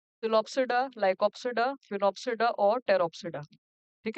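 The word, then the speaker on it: Sphenopsida: फिनोप्सिडा, जिसमें S silent है, फिनोप्सिडा।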